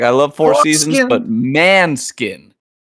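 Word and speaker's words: Måneskin: Uh the one that the band it's spelled like four skin. Uh man man skin.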